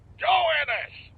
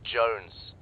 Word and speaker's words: Jones: for you private joannas joe ennis joe ennis where the hell are you sir for the millionth time my name is pronounced jones jones shut up join